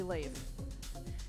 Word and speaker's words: Leif: That is, looks like it's pronounced leaf, but it's actually Leif.